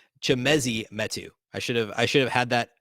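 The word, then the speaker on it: Chimezie Metu: Okay, real quick, correcting my mispronunciation. It's Chimezi Metu. I should have had that ready, and I apologize. Chimezi Metu is how you say the name of the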